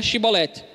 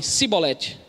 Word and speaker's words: Shibolete: Eles falavam: pronuncia tal palavra, que no caso aqui era Shibolete. E aí o efraimita falava assim: Sibolete.